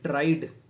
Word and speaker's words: tried: The ed is pronounced as t, and tried, tried, ed is pronounced as d.